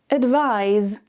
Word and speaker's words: advise: Advice, advise. The key difference here is the ending. Notice when we talk about the noun, there's no vibration. Advice, advice. However, the verb has vibration.